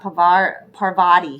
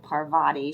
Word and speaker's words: Parvati: I've got Parvati here. Sorry, I said that wrong. Parvati. She likes me to pronounce her name right.